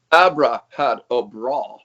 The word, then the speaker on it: Abrahadabra: Around 2010, you recorded, I hope I pronounce this correct, Abrahadabra, correct? Yeah. With Dimmu Borgir, correct? Big band, black metal band. Everybody knows this band. Abra had a bra.